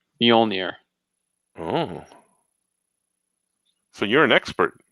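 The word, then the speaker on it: Mjölnir: page of thor and i used bjork and fjord as my reference points for how to pronounce mjolnir oh so you're an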